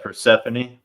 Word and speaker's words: Persephone: Yeah, Persephone. Yeah, Persephone. Demeter and Persephone. Boy, I just butchered that, didn't I?